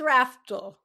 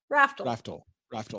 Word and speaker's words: Raftl: It's Raftl. Raftl.